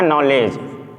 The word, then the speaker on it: knowledge: जैसे हमको लिखना है नॉलेज, KNOWLEDGE, तो हमारा यहाँ डी साइलेंट हो गया।